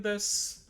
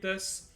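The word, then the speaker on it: です: So yeah, Raven desu, Yuri desu. And sometimes some sounds, especially if it ends in an U, like the TSU, SU, the U is kind of silent.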